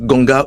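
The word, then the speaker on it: Nganga: Alors ça s'écrit N-Ganga ou N-Koum, mais ça se prononce Ganga ou Koum.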